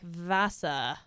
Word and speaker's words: Visser: She says it very differently. How does she say it? Like like more like Vasa or something, but it's spelled Visser. V I S E R, right?